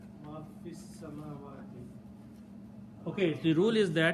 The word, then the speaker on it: fis samawati: Combine this fi with this word, don't pronounce this alif here. Combine fi with sin, fis, samawati. Okay? So because we are not pronouncing the alif, we just replace this with a little swad, small swad sign, that means do not pronounce the alif.